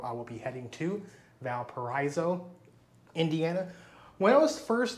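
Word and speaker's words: Valparaíso: Maybe the Valparaiso in Chile is pronounced Valparaiso because it's Spanish. So maybe that's where the people who were visiting this town in Indiana was just pronouncing it the same way you would pronounce the town in the country of Chile.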